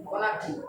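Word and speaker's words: Conakry: কোনার্কি, কোনার্কি, KONAR, কোনার্কি, KONAR, KONAKRY, কোনাক্রি, কোনাক্রি এরকমই আছে, capital হচ্ছে কোনাক্রি, হ্যাঁ এরকম ধার করে, সমুদ্রের ধার করে আছে কোনাক্রি।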